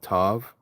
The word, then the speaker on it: Tav: And the same thing with the pronunciation of Aleph and Tav. Of course, we say Alap and Ta.